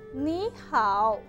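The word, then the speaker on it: 你好: ¿Y cómo se pronuncia? Ni hao.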